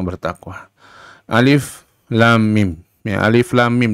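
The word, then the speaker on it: الم: Alif lam mim, ya, alif lam mim dibacanya alif lam mim, bukan alam, bukan alim, bukan alum, tapi alif lam mim, dibaca hurufnya masing-masing.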